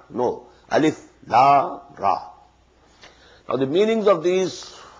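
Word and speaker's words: الر: Not pronounced as Alif Lam Mim Alam. No. Alif Lam Mim. Alif Lam Ra Alar. No. Alif Lam Ra.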